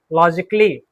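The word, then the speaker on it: logically: तो जितने भी शब्द हैं जिसमें ICALLY आता हो उसमें ए क्या है? साइलेंट। माइंड में रखिएगा, ध्यान रखिएगा। ए क्या है हमारा? साइलेंट है। बेसिकली, लॉजिकली, म्यूजिकली, रोमांटिकली।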